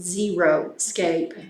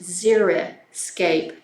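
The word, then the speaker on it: xeriscape: word zeroscape and too often I hear it pronounced zeroscape it's not it comes from two words one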